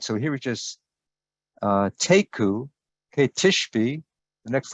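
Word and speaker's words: תיקו: that's very interesting the the term is taku tafir you could spell it t e i q u taku really what that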